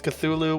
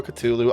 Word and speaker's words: Cthulhu: Um, actually, it's Kalalu. No, no, it's not. It's Cthulhu or Cthulu. Either one of those is acceptable. I don't care what it was originally supposed to be pronounced as.